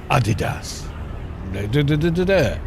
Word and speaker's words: Adidas: it or something and it went Adidas D and everyone went oh we've been saying it wrong for 20 years.